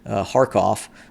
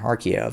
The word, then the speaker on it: Kharkiv: into the areas near Kharkov, or Kharkiv, however you would like to pronounce it, for a possible major tank operation within the vicinity of Kharkov and areas around.